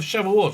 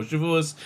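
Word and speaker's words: שבועות: It goes from the Jewish holiday of Passover right up to the Jewish holiday of Shavuot, or Shavuos, depending how you want to pronounce it.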